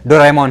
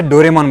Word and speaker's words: Doraemon: अगर आप सोच रहे हैं कि मैं इसे स्टार्टिंग से डोरेमोन क्यों बोल रहा हूं? डोरेमोन क्यों नहीं? तो मैं आपको बता दूं कि इसका रियल प्रोनाउंसिएशन डोरेमोन ही है। हिंदी डबिंग ने इसे डोरेमोनॉन बना दिया है।